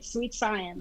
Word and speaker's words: suitesciens: I love your name, by the way, suitesciens. Is that how you say it? That is how you say it, suitesciens.